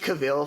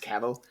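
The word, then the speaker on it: Cavill: when I have because I pronounced cavil for so long before knowing it was pronounced caval before William bluntly corrected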